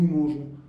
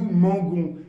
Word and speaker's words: mangeons: nous mangeons exactement alors vous remarquez ici il y a un e dans nous mangeons pourquoi il y a ce e et bien c'est pour respecter la règle de prononciation s'il n'y a pas ce e ça donne nous Mangon et c'est horrible à l'oreille donc pour le verbe